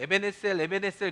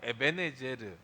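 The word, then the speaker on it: 에벤에셀: 사무엘 7장 12절에 에베네제르, 원래 우리는 에베네셀 그러죠. 그건 우리가 그냥 우리식으로 그냥 발음한 거고, 원래 발음은 에베네제르예요. 에베네제르.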